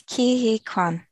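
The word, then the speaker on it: Ke Huy Quan: divorce paper can someone give me a proper pronunciation for this actor's name by the way it's kihikwan uh this is short round from indiana jones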